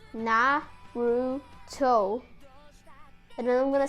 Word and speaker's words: Naruto: they're gonna say that that's not how you pronounce that name you pronounce na ru toe and then i'm gonna